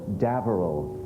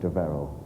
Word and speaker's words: D'Averil: It's D'Averil, not D'Averil.